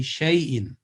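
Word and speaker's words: شَيْءٍ: al-khaf verse number 24 here alif we are not going to pronounce and it will be shay in and similarly here in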